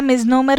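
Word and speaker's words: misnomer: आता याला मिझनोमर पण म्हणू शकता किंवा मिझनेमर.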